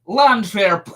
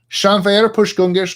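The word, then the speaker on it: Llanfairpwllgwyngyll: You can't pronounce this? Come on. Landfair. Nope. Nope. You screwed up right here. I see. Try this part again. Try that word. L-L-A-N. No. Nope, can't do it. Shanfair push gungish gunger herndropo santa cilio go go go.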